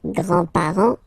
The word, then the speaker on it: grand: with the the grandparents remember you don't pronounce this final s here Grand okay so grand grandfather Grand remember like that it's this open Grand and then the feminine